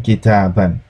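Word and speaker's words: كِتَابًا: Note that noun with tanwin in the accusative case takes an alif which is not pronounced.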